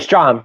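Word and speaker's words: Strahm: It was Stram, right? Strom. Yeah, Matt Strom. Strom. Yeah, I always say his name wrong.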